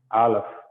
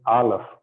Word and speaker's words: Aleph: This is Aleph. Okay, this is a silent letter and only it can be pronounced with a vowel. Okay, only with the vowel you can pronounce it.